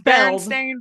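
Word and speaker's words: Berenstain: last name is it Baron Stein or is it Baron stain I don't know I just know it is Baron stain but I think I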